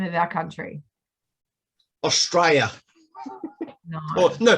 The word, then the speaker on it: Australia: Does anyone know how we pronounce the name of our country? Australia. No. Oh, no, Straya.